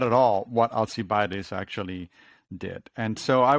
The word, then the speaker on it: Alcibiades: So I'm going to make sure it's now my turn to mispronounce this. Alcibiades?